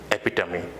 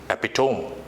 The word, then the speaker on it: epitome: It's called epitome. But people have mispronounced it as epitome. But it's not that. It's epitome. So the next word, what is it?